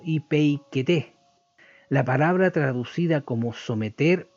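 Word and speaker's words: ὑπείκετε: de esta forma y se pronunciaría algo parecido como ipeikete, la palabra traducida como someter o sujetaos. En español es el verbo griego ipeikete, es imperativo presente de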